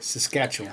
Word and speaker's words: Saskatchewan: and I can never say this name Saskatchewan Saskatchewan I finally said it right yay and Manitoba